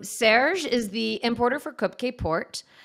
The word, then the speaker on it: Kopke: I'm mispronouncing it right cupcake cupcake in Portugal they say cup but in the states we just say cupcake okay uh yeah I'll